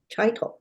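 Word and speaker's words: Chytil: For the Canucks, they got Philip Heitel. Heitel. Cheeto, They yeah. keep giving him, they keep pronouncing it differently. I went to high school with a guy with that name, and he pronounced it Chitel.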